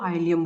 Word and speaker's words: ilium: ILIUM है तो ये पेल्विक बोन्स होती है ये, ठीक है, इसको आइलियम बोलते हैं।